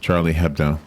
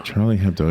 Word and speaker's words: Charlie Hebdo: Charlie Hebdo. Yeah, they would know. Charlie Hebdo.